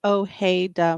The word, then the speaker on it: Ojeda: your last name please last name is spelled it will actually pronounced Ojeda boy yeah you write